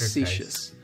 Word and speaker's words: facetious: three syllables, and Facetious. the stress is on that Fa- second syllable.